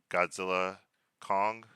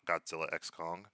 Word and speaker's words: Godzilla x Kong: Frozen Empire number nine Godzilla Kong the new Empire that's how you say it Godzilla Kong not Godzilla X Kong not Godzilla times Kong Godzilla Kong the new